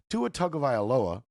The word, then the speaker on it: Tua Tagovailoa: Tua Tagovailoa. Just wanted to get that clear how to pronounce that real quick.